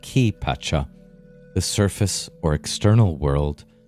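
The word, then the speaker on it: Kay Pacha: there is the kai usually pronounced key patcha the surface or external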